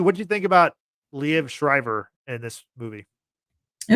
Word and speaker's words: Liev: the first X-Men movie played by different actor leave shriber uh played it's actually pronounced leev okay well I know him as the voice